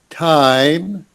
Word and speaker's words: time: yeah um this word time make sure when you say that word that you open your mouth time time time yeah t long i time yeah time there's a